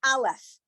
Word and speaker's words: aleph: Okay, the aleph is silent, so all you need to do is to look for the vowel and you're good.